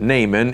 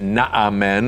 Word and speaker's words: Naaman: he encounters a man named Naaman now we pronounce it Naaman in their day they would have pronounced that not amen aren't you glad we just say Naaman Naaman